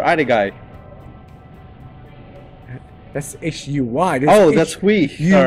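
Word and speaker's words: Huy: That's hui. All right. E. You say hui now, I can't pronounce it now.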